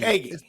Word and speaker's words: Egge: But It's I hope I pronounced it right. It's Egge. Egge.